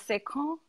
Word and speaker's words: Sekhon: Well, the colloquial pronunciation is Sekhon, but okay. Sekhon is fine.